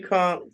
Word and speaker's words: conch: know how they say it, conch. It's definitely conch.